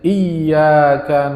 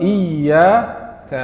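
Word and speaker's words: إياك: Yang kedua sering salah juga itu tasdid pada ya dari iyyaka na'budu wa iyaka nasta'in. Kadang tidak ada tasjidnya. Iyaka na'budu wa iyaka nasta'in. Ah, ini juga salah, Pak.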